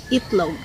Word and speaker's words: itlog: The itlog, no. We just say itlog. Ulo, no. We just say ulo. Even though ulo starts with letter U or itlog starts with letter I.